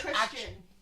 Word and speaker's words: Christian: I don't want to watch a movie with Kristen Slater in it. Why? It's Kristen Slater. Christian Slater's great. He's It's Christian. That's a matter of pronunciation. He's saying Kristen.